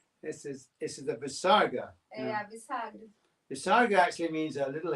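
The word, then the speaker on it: visarga: yeah that's right but what it is is an out breath and um an audible out breath you know so when we breathe out you can't hear it but if you breathe out very kind of strongly you can hear it so that's the visaga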